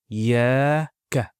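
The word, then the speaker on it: إياك: So that Shadda represents two letters. So we pronounce it Iyaka.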